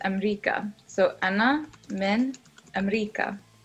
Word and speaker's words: أمريكا: America in Arabic is Amrika. So Anna min Amrika. Amrika.